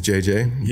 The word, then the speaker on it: Jay-J: So my name is JJ. Yeah, so JAY-J.